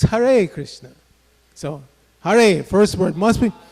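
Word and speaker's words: Hare: it's har Krishna so haray first word must be must be pronounced properly haray and then Krishna everybody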